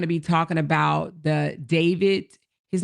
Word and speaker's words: D4vd: It stands for David, but it's D the number four V D. That is his stage name and it's pronounced David.